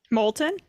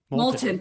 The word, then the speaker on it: Moulton: massachusetts uh seth i'm gonna say his last name wrong um moulton molten thank you um he introduced legislation uh to